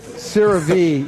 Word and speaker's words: CeraVe: CeraVe, yeah. I don't pronounce that stuff.